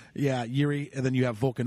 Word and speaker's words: Jiří: How do you pronounce his name? Jiří. Yeah, Jiří.